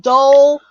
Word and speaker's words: Dole: and I told her you are saying dole correctly it rhymes with coal so she had some